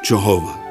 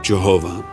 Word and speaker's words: Jehovah: The first rendering of Jehovah. It goes back hundreds of years. You may not have thought of this, but the Bible goes back thousands of years. The first rendering of Jehovah appeared in 1530 in William Tyndale's translation of